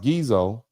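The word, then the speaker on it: Ghezo: In 1851 and 1852, the British even blockaded the Dahomey's ports to to force the king and I believe his name is spelled uh pronounced Gezo to agree to end the slave trade.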